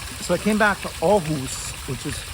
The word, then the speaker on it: Aarhus: So I came back to Aarhus, which is pronounced Aarhus, Denmark, was where I was based.